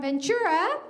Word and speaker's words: Ventura: And just like me, this next group is from Ventura.